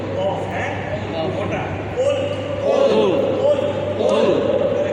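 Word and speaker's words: قل: কুল কুল কফ হ্যাঁ ওটা কুল কুল কুল কুল বললে হবে না কুল কুল কাফ যদি কুল বলেন তাহলে কাফ দিয়ে হবে তখন অর্থ হবে তুমি খাও আর কুল সঠিক উচ্চারণ করে কুল।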